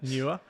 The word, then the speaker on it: Newer: Um, some people pronounce it wrong, but there you go. It's uh, Newer.